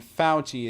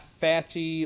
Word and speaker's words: Fauci: is anthony and then falchi it's not fatchy or some other weird